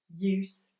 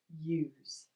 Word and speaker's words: use: If we have the S-sound at the end of a word, if we are talking about a verb, we generally change the S to Z... Close / close... Use / use.